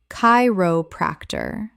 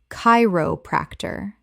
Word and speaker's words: chiropractor: cardiologist cardiologist Word 75 chiropractor Common mispronunciation chiropractor Correct pronunciation chiropractor The ch makes a k sound. Four syllables with stress on the first.